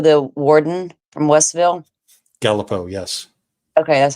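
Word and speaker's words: Galipeau: Apparently, they've got wasn't Gallipo the warden from Westville? Gallipo, yes.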